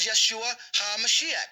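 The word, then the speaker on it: ישוע המשיח: Drop his name was Yeshua HaMashiach. That's how you say his name in the Syriac.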